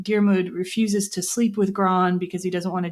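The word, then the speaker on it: Gráinne: I looked up how to pronounce this. So, Darmud and Gro were like these uh lovers and Gro had been a promised to marry this sort of older man named Fon.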